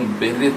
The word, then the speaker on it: berith: वाचा का यहूदी भाषा में यदि आप देखेंगे तो वाचा को वो लोग बेरित कहते हैं। बेरित यहूदी भाषा में वाचा को कहा जाता है। बेरित का स्पेलिंग है BERITH, बेरित, BERITH, बेरित।